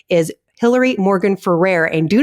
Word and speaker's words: Hillary Morgan Ferrer: want you to know the proper way to pronounce her name is hillary morgan ferrer and do not get that wrong because now